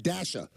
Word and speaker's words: Dasha: guests Tucker Wetmore and Dasha. Now, I'm not mispronouncing that. It's D-A-S-H-A.